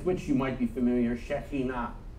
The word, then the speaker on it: Shekhinah: you might be familiar, Shekhinah, often pronounced Shekinah or mispronounced Shekinah.